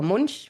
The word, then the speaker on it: Munch: covered in paintings by Edward Monk, who or Munchch as you might want to pronounce him, who many people will know as the painter of the scream.